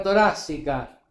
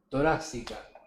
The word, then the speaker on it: torácica: Y por favor, casca Guido, es caja torácica y te lo escriben bien los chicos del graf, ¿eh? Toráxica, ¿no? El mete toráxica.